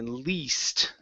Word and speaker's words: least: Next up is okay, least. Right here. Give me a long E sound here. It's least. Least.